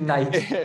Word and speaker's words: Knight: and I believe Luke Knight's, I'm going to mess this up. His Instagram handle, if you type in Luke Knight with a silent K, you'll find him.